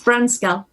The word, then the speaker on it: Brunskell: And how do I pronounce Brunskell or Brunskell? It's Brunskell.